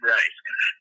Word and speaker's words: Ralph: Ralph, it is spelled Ralph, but he's that posh, of course. You've got to call him Rafe.